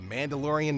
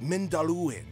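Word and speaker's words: Mindolluin: The amount of times that I've pronounced it as the Mandalorian Mountain is ridiculous, y'all. Anyway, so it was discovered on Mount Mindalluin, and then later was planted in the court of the fountain.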